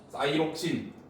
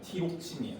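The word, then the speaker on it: thyroxine: 사이록신. 한글식 발음으로 봅시면 티록신이야. 티록신.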